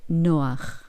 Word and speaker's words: Noach: interesante, porque Noé, ¿cómo se dice en hebreo? Se dice Noach, y se escribe así, se escribe Nun Het.